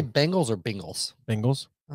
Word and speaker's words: Bengals: you say bengals are bengals bengals it's a it's a cross between an eye and an e i think but anyway there's